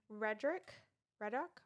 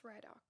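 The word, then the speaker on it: Ridoc: And then Reddock. Oh crap. Riddock. But Riddock. they pronounce it in the audiobook, and I remember being like, oh crap. I think it's Riddock.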